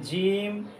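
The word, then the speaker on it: جيم: যাচাই করতে পারি না জিমের উচ্চারণ হবে জিহ্বার মাঝখান তালুর মাঝখান একটু শক্ত আওয়াজে তিন আলিফ করে টান দিব আমরা সবাই ইনশাল্লাহ আমার সাথে সাথে এইভাবে টান দিবেন জিম এই যে জিহ্বার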